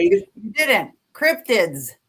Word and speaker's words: Cryptids: I was at the Ford Cryptics. Did I say it right, Jenny? Because you're always correcting me. No, say it. You didn't. Cryptids with a D.